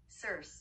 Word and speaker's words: Circe: In Greek mythology, Circe and Aphrodite, Circe or whatever. I don't know how to say that. I don't like not being able to say shit. Let's see. Circe, is it? Circe.